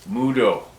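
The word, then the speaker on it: Mvto: MVDO, pronounced Mudo, or thank you.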